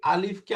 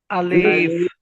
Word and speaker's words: ألف: আলিফ। আলিফ। এরকম টান হবে না, আলিফ বলেন ألف তো।